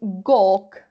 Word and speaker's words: gawk: Pay attention to the pronunciation, is gawk. Like gawk. Me he pasado de voz. Como si fuera así, ¿vale? Gawk. Como si fuera una O larga.